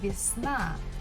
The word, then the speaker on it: весна: Next word is весна. Весна, spring. So syllable falls at the last syllable na. So the first syllable вес we have to pronounce with letter E. Весна, весна.